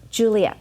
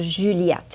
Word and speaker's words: Juliette: Juliette, so Juliette, it's in French.